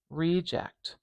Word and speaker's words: reject: We've got a lot of length and power on this E vowel here. So that means I'm going to put the stress marker at the beginning of that first syllable for this one.